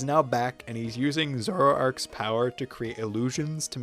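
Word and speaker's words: Zoroark: Zoroarch. Oh, it's pronounced exactly how it's spelled.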